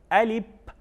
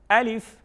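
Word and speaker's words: alif: बाज़ लोग इसको गलत पढ़ते हैं, इसको पढ़ते हैं अलिफ, अलिफ यानी आखिर में पा पढ़ते हैं, पी, तो ये गलत है। इसकी प्रॉपर प्रोनाउंसिएशन जो है वो है अलिफ।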